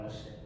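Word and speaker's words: משה: Como que se pronuncia hebraicamente, Bruno? Qualquer Moché. Moché ou Mosched? Moched Moched, quase lá.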